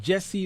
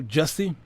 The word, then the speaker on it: Jussie: Jussie Smollett, depending on how you pronounce his name, Jesse or Jussie. We often say Jesse, although we see the spelling looks like it's pronounced Jussie.